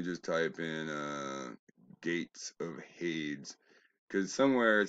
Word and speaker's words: Hades: Now remember, Zeus, Poseidon, and Hades, they call them Hades. That rhymes with ladies. There's no I-E-S at the end of that. They're mispronouncing that on purpose. Hades rhymes with shade, right?